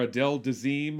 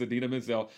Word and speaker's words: Idina Menzel: i i i did know it idina or adele dazeem or whatever idina menzel was in it the travolta pronunciation is adele the team or something like that but the correct pronunciation is adina mizzell i do know who adina menzel is uh